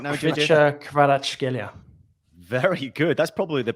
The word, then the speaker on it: Kvaratskhelia: Kvaratskhelia. Very good. That's probably the best pronunciation here.